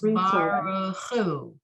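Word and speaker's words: ברכו: But here you have, so the word Baruch, the last word on line 5, is only 2 syllables. Baruch, right? Right. The last word on line 6 is 3 syllables. Baruchu, right? So you're still putting the emphasis on the last syllable.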